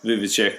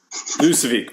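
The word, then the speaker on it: Vučević: moving forward, even though Nikola Vujicic will never move. Vucevic. Did I say it right? What's his last name? Is it Vucevic? Did I say it right? Spell check? No, you said it right the second time.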